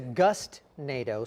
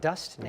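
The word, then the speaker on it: gustnado: So it's a gust-nado, spelled with a G, not dust-nado, right?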